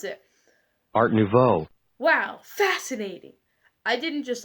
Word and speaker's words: Art Nouveau: how to pronounce it so here's how to pronounce it Art Nouveau Wow fascinating I didn't just listen to that